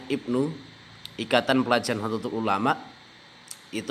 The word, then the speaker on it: IPNU: Ikatan Pelajar Nahdlatul Ulama jadi Ibnu ya bacanya Ibnu Ikatan Pelajar satu ulama